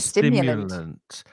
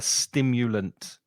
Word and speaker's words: stimulant: is a It's a stimulant, stimulant. Be not a careful of stimulate, pronunciation because stimulant. it's very common, especially if you're a Spanish speaker, to put that before an S.